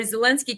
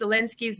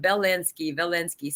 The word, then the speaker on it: Zelensky: Biden mispronounced Zelensky's name. I think he called him Velensky, something like that.